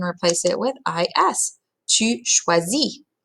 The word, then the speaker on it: choisis: Tu choisis. Again, that last S is silent.